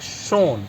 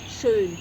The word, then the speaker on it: schön: So in German word, so the one word I know that is in like schön. Schön is for beautiful. So Schön, yeah. so schön is for we can use for the people, place, and Yeah.